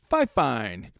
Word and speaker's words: Fifine: So, it is pronounced. They will tell you in an email it is Fifine. You got to get it right.